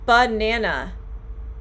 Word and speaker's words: banana: button yes button so banana banana the uh at the end of banana the last a nana banana so you have the first a is the uh it's the stressed banana